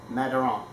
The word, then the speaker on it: Madiran: And the Laplace family is very well known for making extraordinary wines in an otherwise lesser known part of France, Madiran.